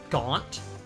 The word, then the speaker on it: Gant: Name's Gant. Damon Gant. That is such a good name. Damon. That is Damon. such... I believe it's actually pronounced Gaunt. Damon Gaunt. Because he's a gaunt demon.